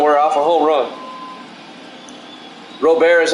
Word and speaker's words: Robert: one of them were off a home run Robert is how you say it all right how's